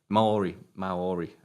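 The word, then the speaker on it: Māori: Maori. I probably mispronounced the hell out of that.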